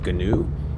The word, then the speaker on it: GNU: we use in 2011 G is also for new sometimes pronounced ganu it's an acronym that's